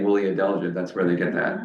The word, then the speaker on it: adelgid: Yeah, and thus the name woolly adelgid.